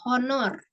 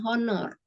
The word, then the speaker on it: honor: Tapi bacanya bukan hour sama kayak honor dia cara bacanya bukan honor tapi Honor makanya itu kita nggak